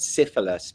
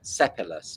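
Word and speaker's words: Sipylus: I thought it said Syphilis, but it's Sepulus.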